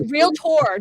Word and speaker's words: Realtor: uh i am about it's a real tour don't say it wrong because you get you'll get harassment mail i got harassment because i said wheelchair instead of real tour that's my fault um